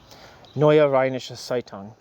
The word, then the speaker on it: Neue Rheinische Zeitung: Neue Rheinische Zeitung.